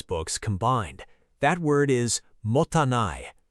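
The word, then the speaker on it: もったいない: That word is mottainai, pronounced mo-tai-nai.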